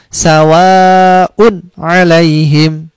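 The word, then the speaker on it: سَوَاءٌ عَلَيْهِمْ: terus sawah untuk alaihim sawa'un ilaihim tidak boleh dibaca dengung Zahwa UNRI ilaihim salah itu meskipun suaranya bagus tapi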